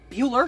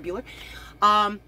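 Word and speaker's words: Buhler: screenplay actually done by a man named Jeff Buehler, if I'm pronouncing it right, B-U-H-L-E-R, Buehler, who was, among other things, was one of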